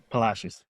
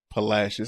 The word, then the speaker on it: Palacios: They are based in Palacious. Palashes. Palashes. I said it right the first time. They are based in Palashes, Texas.